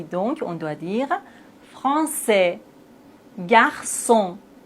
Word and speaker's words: garçon: Et maintenant avec cille ça ka sa français garçon façade déçu. Mais s'il n'y a pas de CD on doit les prononcer comme ça. Franqu facade mais on a la CD donc on doit dire français garçon.